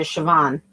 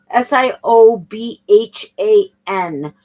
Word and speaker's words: Siobhan: Is this a I think she pronounces it Siobhan. S I O B H A N. And I only say that because I've now heard it pronounced three different ways.